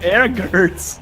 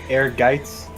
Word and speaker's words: Ehrgeiz: Ehrgert's. Is that not how it's pronounced? No, not at all. Guys, I'm looking this up real quick. what is it? Ehrgeiz. Air Geiz?